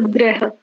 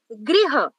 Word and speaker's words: गृह: ऋषि की मात्रा है, वो जो नीचे चोटी जैसी बनी होती है वो ऋषि की मात्रा है। रे गृह, उच्चारण में ही अंतर है। गृह मैं इसको सुधार करने का प्रयास करूंगी।